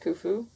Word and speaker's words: Khufu: of going now that katfu has been returned to his master i've got to get back before my master has a fit it is done pronounced kufu and with a wave